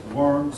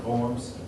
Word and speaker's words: Worms: the concordance of forms sometimes pronounced worms sometimes pronounced forms reach a compromise or